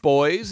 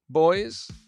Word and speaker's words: Boise: how do you pronounce is it boys is that how you pronounce it boys i tell you i